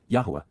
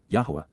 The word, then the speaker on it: Yahweh: who are upright and correct and therefore acquitted Yahweh Yahweh the proper pronunciation of the name of eloah God as